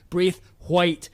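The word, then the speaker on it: Braithwhite: guess not um so samuel braith white you all got that you're gonna be hearing that a lot more as it goes on with the second syllable really emphasized brief white you got that guys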